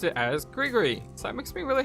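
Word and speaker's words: gris-gris: our Hear You playthrough, I didn't know how to pronounce the G-R-I-S word. So I said Gree-Gree. And I said, you know, that's just how I'm going to pronounce it. And it's probably wrong, but we're going to stick with it.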